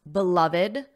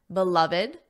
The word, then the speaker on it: beloved: Did you notice how I pronounced beloved, beloved? There are three syllables, beloved.